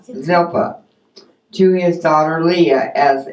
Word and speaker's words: Zilpah: Laban also gave his maid, how do you pronounce that one? Zilpah. Zilpah, to his daughter Leah as a maid.